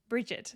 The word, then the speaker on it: Brigid: And Bridget, that's how I should be saying it. There is a pronunciation. So generally you're going to see her name spelled Brigid, and that current pronunciation would be Bridget.